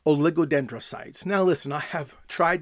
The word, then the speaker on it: oligodendrite: So, what I learned was that there's a word called oligodendrites.